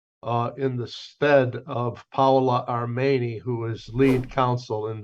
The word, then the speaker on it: Armeni: Armeni. Armeni. He is said like an A.